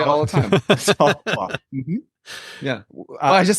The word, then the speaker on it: Ottawa: That's how they say it. Like the settlers said it. It's Ottawa.